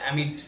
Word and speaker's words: amid: Aimed such heat অ্যামিড, waves, এটার উচ্চারণটা হচ্ছে অ্যামিড।